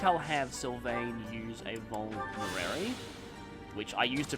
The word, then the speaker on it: Vulnerary: I think I'll have Sylvain use a Vulnerary, which I used to pronounce Volvinary when I first played Fire Emblem 7.